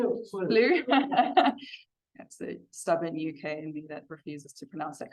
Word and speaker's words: Slough: Slough. That's the stubborn UK in me that refuses to pronounce that correctly.